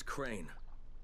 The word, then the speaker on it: Crane: No, my name's Crane. Crane? Crane rhymes with train and brain and sane and grain and rain and plane and the other kind of plane and...